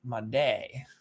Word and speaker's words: Made: Made is pronounced Made. Made. Okay. Interesting. Made. I will probably forget that, but I will try to remember. So Jesus Made. Makes sense. Not Jesus made.